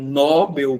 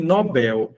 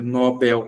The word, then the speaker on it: Nobel: Ele possui a pronúncia correta do seu nome, Nobel. E sendo a pronúncia Nobel correta, não é acentuada porque é oxítona terminado em L e não recebe acento.